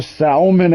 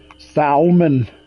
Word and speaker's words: salmon: Let's do the salmon eggs. Salmon. I know people that pronounce the L.